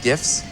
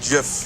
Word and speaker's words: GIF: You really think people are gonna stick around because of GIFs? It's pronounced GIF. No way, hard G GIF.